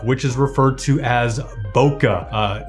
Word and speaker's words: bokeh: blurry background look which is referred to as bokeh not buka or buka it's i think it's pronounced bokeh that is the correct pronunciation of the term